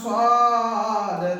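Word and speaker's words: صاد: কলসির গলায় ফাঁস যেমন দেখা যায়, তার নাম সদ, তার নাম সদ। সদ উচ্চারণ কেমন হবে? সদ সামনের নিচের দাঁতের আগা হতে শীর্ষ মোটা ভাবে আদায় হবে।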